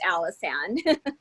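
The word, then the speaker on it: Allison: there a question hi my first name is actually pronounced alison okay all right and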